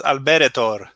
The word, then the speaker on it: Alberetor: simbrim see i knew i was going to mispronounce this yes please do it's alberto alberto the haunted waste is available uh it